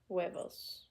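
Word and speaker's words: huevos: the egg egg okay weos almost a w sound yeah you're right it's almost a w sound webos any other question clarification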